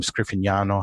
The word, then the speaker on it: Scriffignano: different pH IC pallets my name scano has a GN sound in it the N that's not an English phon name so you know when I tell people how to say it I say well say lasagna because you already know how to say that right so that's a sort